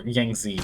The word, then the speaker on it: Yangtze: Or Yangtze is probably how it's pronounced. With a silent T.